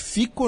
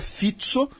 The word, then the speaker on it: Fico: do Robert fito tá eu falei Robert fico no próximo progr no último programa mas alguns ouvintes comentaram que a pronúncia em eslovaco seria fito tá e o governo